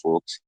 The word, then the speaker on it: Folkes: So on Amazon, it's The Power of Pain by Folks, and Folks is spelled Folkes.